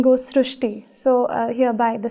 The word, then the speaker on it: Srushti: We have heard of Srushti, but this is a very unique name, Srushti. So in Marathi, the word Ri is pronounced as Ru. So that is why the pronunciation goes Srushti.